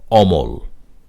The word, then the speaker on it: অমল: আরেকটু পরিষ্কার হবে যেমন অমল এখানে মূল শব্দটি ছিল মল তার আগে অ যুক্ত হয়েছে না বোধক অর্থ বোঝাতে অমল সেজন্য মটি অই থেকেছে ও বা ওকার হয়নি অমল একইভাবে অজর অমর অন